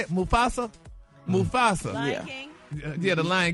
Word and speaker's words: Mufasa: Now they're saying they're gonna star in Mustafa. How you say it? Mufasa? Mufasa.